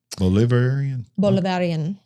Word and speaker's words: Bolivarian: Apparently, her first decisions were not to the liking of the generals, the highly ideological Bolivarian, how do you say that? Bolivarian.